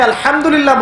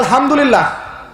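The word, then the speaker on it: الحمد لله: আলহামদুলিল্লাহ অর্থ মানে কি? এখানে যে হা আছে, এটা কি বড় হা না ছোট?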